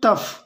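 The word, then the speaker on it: tough: टफ, इसको हाँ आप बहुत स्पेशली इसको ध्यान दीजिएगा, इसको पढ़ते हैं टफ, टफ यहाँ पर ओ यू जी एच का जो उच्चारण है वो क्या हो रहा है, टफ हो रहा है, राइट।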